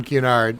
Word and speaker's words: Cunard: And if you think of the letter Q ahead of time and kind of emphasize that, it'll roll off nicely.